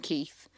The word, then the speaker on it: Kit: It just sounds like thousands of people screaming Keith. And then in the documentary, you hear it. You hear all the fans screaming Keith. Yeah. Well, because K-I-T, I think in Spanish would be pronounced Keith.